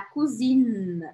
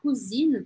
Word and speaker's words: cousine: E aí, la cousine, aqui sim eu vou marcar o N que está aqui. La cousine, la cousine. Tem que marcar esse N. A pronúncia de la cousine teria alguma relação com cozinha?